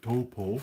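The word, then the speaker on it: Taupō: Well, I was in Tao. That's how I pronounce it. Some people call it Torpo, but it's Tao for me.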